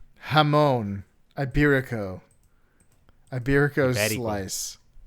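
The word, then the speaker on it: jamón: Hamone is But is it spelled with a J?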